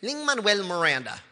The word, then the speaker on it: Lin-Manuel Miranda: into Musical theater uh I pronounced my name Ling Manuel Miranda um I grew up